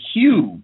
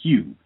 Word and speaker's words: Hugh: the character's name is Hugh now even think of that you got a white character named Hugh it's spelled h u g h but h u e think of that